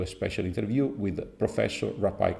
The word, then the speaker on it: Rapaille: Rapaille, like apple pie.